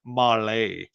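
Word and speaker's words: Mahle: for the podcast listeners Molly is spelled m ah l e Mal is probably how it's pronounced in other parts of the world but not here so the cop Spotlight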